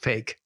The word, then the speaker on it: PHEIC: health emergency of international concern, PHEIC. Pronounced fake.